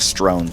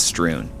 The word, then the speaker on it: strewn: Yeah, I think before I was saying strown straw. Strown, but it's strewn.